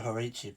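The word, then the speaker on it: Hořice: Or as they pronounce it, Horiki or Horici, but because I'm English, I try and pronounce it an English way, which is Horis.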